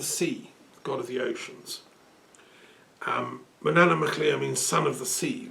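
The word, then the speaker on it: Manannán mac Lir: Manannan MacLear, we pronounce that. Manannan MacLear.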